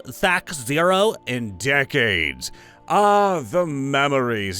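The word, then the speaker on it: THAC0: I haven't heard someone say it's actually pronounced Thac Zero in decades. Ah, the memories. Yeah, it was Thac Zero back in the old school days, but we just call it Thaco because screw it.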